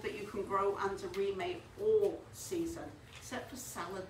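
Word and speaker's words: Reemay: How do you spell it? Remay, R-E-E-M-A-Y.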